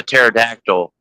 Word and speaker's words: pterodactyl: Why did they not know that the pterodactyl went to the bathroom on them? Because the P is silent.